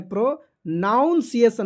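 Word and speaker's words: pronunciation: प्रोनाउंसिएशन है, प्रोनाउंसिएशन नहीं है, नाउन नहीं है, वहाँ पे N होता है, तो प्रोनाउंसिएशन पढ़ेंगे उसको।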